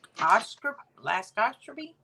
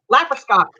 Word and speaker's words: laparoscopic: students who were learning how to do the laxoscopy. I don't know how you say it. Stop. Yeah, where they were going in with those arm things. I can't say it now because you said it wrong. Laparoscopic.